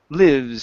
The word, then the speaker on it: lives: Okay, next up, make sure to pronounce the S on the end of this word. Okay, instead of live, lives.